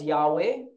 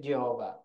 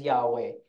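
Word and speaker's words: Yahweh: we pronounce it as yahwe some pronounce it Jehova okay but the more correct is yahwe kasi walang J sa Hebrew Okay so yahwe Okay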